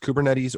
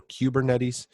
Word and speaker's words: Kubernetes: It's pronounced Kubernetes or Kubernetes.